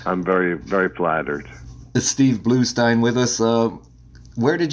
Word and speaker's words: Bluestein: better Oh exactly Steve blue Stein with us the name is pronounced Stein spelled blue st ein when you look it